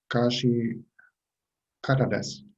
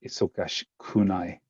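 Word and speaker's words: 忙しくない: Isogashi kata desu. No, so it's isogashi kunai. So this is the negative form.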